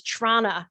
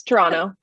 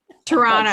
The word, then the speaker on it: Toronto: Close, Toronto. You just missed that. Toronto. Second T. There it is. Patrick put it in the chat. Toronto. So the T is silent, basically, or the second T is silent.